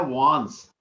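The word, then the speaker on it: wands: तीसरा है वांस, अब ये लिखा इसको जाता है वांट्स, VANDS, लेकिन इसकी प्रोनाउंसिएशन होती है वांस, इसमें डी साइलेंस है। ओके, ये प्रोनाउंस करने का तरीका है वांस।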